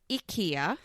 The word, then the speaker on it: IKEA: I've been corrected and been told it's ikia for Swedish people sure for SW it is a Swedish brand so I think it is the actual pronunciation but also there's a